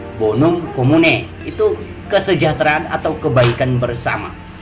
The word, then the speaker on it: bonum commune: Menulisnya bonum communae ya, tapi membacanya bonum commune.